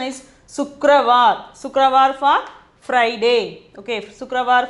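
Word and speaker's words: शुक्रवार: Sukravar for pronunciation is Sukravar.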